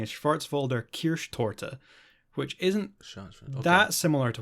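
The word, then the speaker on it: Schwarzwälder Kirschtorte: getting reservations at a german restaurant and um schwartzville couscoutton yeah well this is what he asks for absolutely mispronunciation actually i looked up because i was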